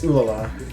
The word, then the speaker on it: Ulala: Yeah, it's Ulala. It actually is pronounced like that.